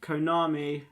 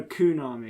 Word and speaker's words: Konami: And Konami, all alone, is the... you're not saying it right. Oh, Kunami. That's better.